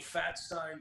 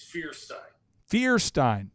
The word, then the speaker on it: Feuerstein: the country well uh when i was young people called me fat stein frankenstein but uh it's fierce fear stein fierce okay so first